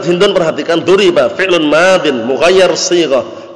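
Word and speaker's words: مُغَيَّر: I'rabnya duribat hindun, perhatikan duriba fi'lun madin mughayyar shighah, bukan mughayyir ya. Sebagian orang bacanya mughayyir itu keliru, mughayyar yang diubah artinya.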